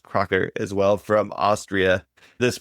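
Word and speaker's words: Kracher: We have Cracker, which is pronounced Crocker as well from Austria.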